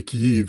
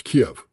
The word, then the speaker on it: Kiev: Uh, if you say Kyiv, you're speaking with a Ukrainian point of view. It's Kiev. It's always been Kiev.